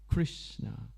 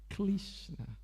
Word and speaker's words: Krishna: and we oriental people we cannot pronounce the word Krishna properly we pronounce kishna right everything the art it's